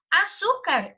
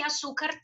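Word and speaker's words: azúcar: Diferentemente de arte, a palavra açúcar nem entraria na regra de eufonia, porque a minha sílaba tônica ali não é o A, é o SU, né?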